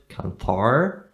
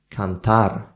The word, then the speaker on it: cantar: pronounce that sound, because it's not cantar, okay? It's cantar, cantare, okay? And sometimes in Spanish it will have to be even vibrated.